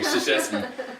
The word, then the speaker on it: Krzyzewski: yeah, Krzyzewski. Oh, Krzyzewski.